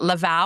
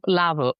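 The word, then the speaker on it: Lavaux: Or is it Lava or Lavo? No, it's Well, Lavo. Lavo. Lavo. Lavo. Yeah.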